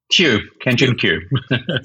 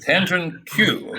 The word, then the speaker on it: Kanjun Qiu: Is that how you pronounce that? Kanjun Qiu. Kanjun Qiu, okay, titled A Vision of Metascience, an Engine of Improvement for the Social Processes of Science.